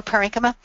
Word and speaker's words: parenchyma: And I can't pronounce this, but I think it says parenchyma? Oh, parenchyma.